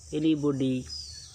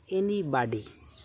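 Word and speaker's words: anybody: এই এনিবডি ওয়ার্ডটির দুটো উচ্চারণ রয়েছে। আমেরিকান উচ্চারণ হচ্ছে এনিবাডি, কেউ, এবং ব্রিটিশ উচ্চারণ হচ্ছে এনিবডি, এর অর্থ হচ্ছে কেউ।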